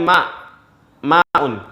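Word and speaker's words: ماء: Harusnya tulisannya itu adalah bukan ma'un tapi mauhun, ya. Tetapi karena lithaqil, karena beratnya orang mengucapkan, sehingga dibaca dibaca ma'un. Tulisannya awal itu adalah mauhun, ya. Untuk mempermudah orang membacanya dibaca ma'un, ya.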